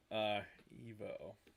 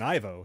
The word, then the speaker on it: Ivo: I apparently I've been mispronouncing Ivo's name. Oh, it's pronounced Evo? He says I've been mispronouncing it. So well, we've both been saying Ivo, so yeah.